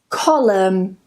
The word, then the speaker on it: column: Autumn, column, gam, hymn, and yes, this is pronounced the same as him, condemn, and the last one, government.